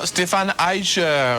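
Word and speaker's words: Stephan Eicher: Stéphane Eicher. C'est ainsi qu'il faut prononcer son nom.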